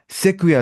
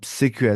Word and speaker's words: sequoia: सेक्विया इसको बोलते हैं, वन ऑफ the largest, one ऑफ the tallest tree species. मैं आपको दिखाता हूँ, SEQUOIA इसकी स्पेलिंग होती है, SEQUOIA। ये देखिए आप, सेक्विया इसको बोलते हैं।